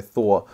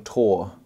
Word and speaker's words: Thor: And also, Grant Nisbet, the commentator, doesn't really know how to say Thor. I mean, I'm prone to some pretty poor pronunciation myself at times, but I thought Thor was a pretty common one, especially with all the Marvel movies, but he kept calling him Tongan Tor, which was also grinding my gears.